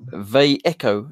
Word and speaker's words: Vallejo: says by the waited Vallejo is pronounced they echo in Spanish I think it